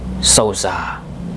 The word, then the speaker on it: Sousa: tetapi secara substantif bagaimana keinginan dari keluarga ataupun lingkungan-lingkungan Sauzza ini untuk hanya menggunakan pelafalan Sauza.